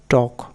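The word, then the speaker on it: talk: Rule নম্বর 16, এলকে এর আগে ই বা ইউ না থাকলে এলকে এর উচ্চারণ হবে ক, সেক্ষেত্রে এল অনুচ্চারিত থাকে। যেমন টক, ওয়াক, চক, এই টাইপের।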